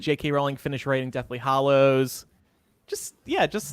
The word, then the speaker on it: Hallows: I still get wrong Hallows Hallows enrolling by dollars yeah a lows haleh's somebody said say shallow how that's how you're supposed to remember it like rolling like bowling